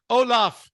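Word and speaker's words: Olav: Okay, but it's pronounced the same at least.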